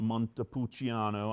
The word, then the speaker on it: Montepulciano: also, during their freshman year, historically, go to Montepulciano. You have to say it like this. You have to put your hand out. Montepulciano. I don't know why Casey didn't do it earlier. But Montepulciano, Italy.